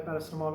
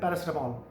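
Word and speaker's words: paracetamol: गई है, उससे पहले पैरासिटामोल होती थी, तो यहाँ पे कहते थे पैरासिटामोल, जबकि इंग्लैंड में उसकी प्रोनाउंसिएशन क्या थी, पैरासीटामोल।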